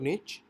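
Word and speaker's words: niche: निश मींस आप इसको इस तरह से प्रोनाउंस कर सकते हैं। निश और निच अम और इसका जो बेसिकली इजीिएस्ट वर्ड है समझने के लिए वो कैटेगरी होता है।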